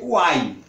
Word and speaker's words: uai: A pronúncia aqui vai ser uai. Aquela interjeição famosa dos mineiros, uai.